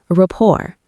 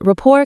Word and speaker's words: rapport: Rapport. Rapport. Surprised. Oh, the T at the end is silent? Teaching. Yes, rapport comes from French. The T is completely silent.